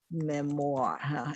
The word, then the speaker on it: memoir: I mentioned last time Memoir it's a French word that's why the O is pronounced as W so it's called Memoir